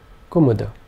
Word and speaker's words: kumuda: this will be pronounced kumuda all three vowel sounds being short kumuda kumuda is a